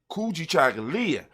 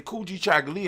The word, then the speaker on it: Kujichagulia: for ourselves and self-determination kuji chagalya when you say it properly kuji chocolate and just let it ring it rings with the african tone it rings with our